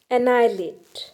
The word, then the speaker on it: annihilate: annihilate, annihilate, annihilate, spelling थोड़ी सी different है और प्रोनाउंसिएशन थोड़ा सा डिफरेंट है, तो प्लीज़ ध्यान दीजिए प्रोनाउंसिएशन पर। इट इज़ annihilate, annihilate।